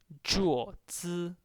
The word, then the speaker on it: 桌子: 桌子, this is a flat tone on O on the vowel, so you have to pronounce it like this.